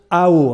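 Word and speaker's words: 好: L'idéogramme chinois pour dire beauté, c'est l'idéogramme qui se prononce Hao. Alors je suis désolé, je ne suis pas très bon en prononciation chinoise, mais ça s'écrit H-A-O en alphabet de chez nous.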